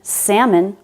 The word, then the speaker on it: salmon: And he didn't know that the L in salmon was silent.